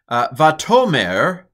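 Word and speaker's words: וַתֹּאמֶר: And here's my pronunciation. Vatomer hine shava yiv matake el ama.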